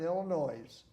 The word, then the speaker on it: Illinois: So I've always dropped the S. Now it's just straight Illinois.